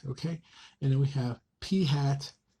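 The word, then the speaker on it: p̂: Okay, now in this case, our point estimate is going to be called p hat. Okay, that's how you pronounce this guy.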